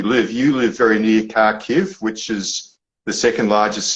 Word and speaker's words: Kharkiv: Am I saying that correctly, Kharkiv? Yeah, you're saying it right. Close enough. That's the Australian way of saying it.